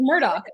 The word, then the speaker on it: Murdaugh: spelled murder unless the the G and the H in like Gaelic or whatever like this makes the sound of a k then everyone's saying their name wrong including themselves as Murdoch and I'm like no